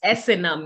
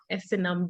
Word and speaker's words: Esenam: So it's Esenam, yeah? Esenam. Yes. Okay. Esenam. Like Esenam.